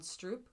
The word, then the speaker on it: stroop: interesting point that came from a documentary called Stroop which I also highly recommend how you spell that s r o o p okay it's